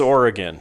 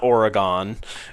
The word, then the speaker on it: Oregon: they decide how you pronounce the place that they live. And so I always strive to to learn that, you know, we don't call it it's it's Oregon. It's not Oregon or, you know, it's it's Nevada.